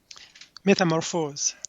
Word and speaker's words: Métamorphose: The world premiere performance of his orchestral composition, Métamorphose, is that how you pronounce that? Metamorphose.